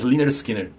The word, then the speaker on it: Lynyrd Skynyrd: do primeiro disco né pronoun pronuncia eh linner Skinner então a simpleman virou